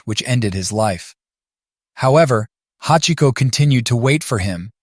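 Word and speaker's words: 八: They resembled the kanji that represents the number 8, which in Japanese is pronounced hachi, so he decided to name him Hachiko.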